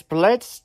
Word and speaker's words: Blitzø: few days ago and this is Blitz they all is silent and we'll see you